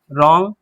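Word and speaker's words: wrong: आएगा तो W silent, W के साथ आर जहां भी आएगा डब्ल्यू क्या हो जाएगा, साइलेंट हो जाएगा। ठीक है, डब्ल्यू का उच्चारण नहीं करते। तो राइट, रॉन्ग, WRAP, रैप पढ़ते हैं,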